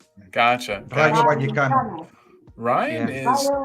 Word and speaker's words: Vallecano: No, like the V is almost a B. Vallecano. Vallecano. Okay. But it's spelled right. Ryan's got his failed Spanish. The N, the N before the C doesn't go. It doesn't exist. He's put an N in. It's Vallecano. Okay.